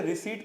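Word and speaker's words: receipt: making cash payment देखिए इसे रिसिप्ट पढ़ेंगे पीस के अंदर क्या होता है साइलेंट होता है तो रिसिप्ट फॉर मेकिंग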